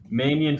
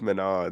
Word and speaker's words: Manon: Let's move on to Manion Fiore. it. What? Manon? It's Manon.